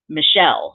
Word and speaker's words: Michel: andrew and michael but they pronounce m i c h it's a-l or e-l which we thought was a a spaniard version of michael and it is but they pronounce it michelle so he said so